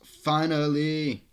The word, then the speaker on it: Finale: stuff and this finale spelled finale but it's actually pronounced finally it's the last song